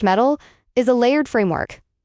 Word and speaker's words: MTIL: MTIL pronounced metal is a layered framework.